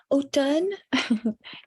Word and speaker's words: automne: There's an M there, but it's not pronounced.